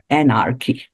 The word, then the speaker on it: anarchy: Anarchy. Yes, it's on the first syllable.